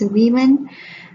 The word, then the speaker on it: women: The pronunciation is women.